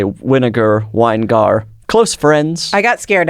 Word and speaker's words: Winegar: just really I mean I guess winegar makes sense wiar makes sense but it has a little speed bump in the middle wiar and wow yours is almost